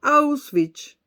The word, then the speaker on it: Auschwitz: Auschwitz, Patricia Poleo, Auschwitz. No como tú lo pronunciaste, que no se entendía nada.